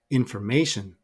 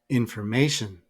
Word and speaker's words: information: here we can see syllable one is our secondary stress syllable two unstressed syllable three is our primary stress and syllable for also unstressed so the pronunciation is information information notice that the weak